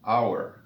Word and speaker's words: hour: Aquí enfatizamos el hecho de que la palabra inicia con el sonido de la vocal O, hour, y la H no suena.